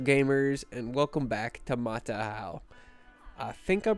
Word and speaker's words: Mataaho: from New Zealand to tell me that it's pronounced matahau instead of Mata but uh yeah today we're building for the